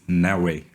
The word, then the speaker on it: Neoway: The right pronunciation is Neoway.